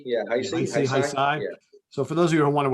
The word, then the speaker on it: Heisei: Heisei, yeah, Heisei.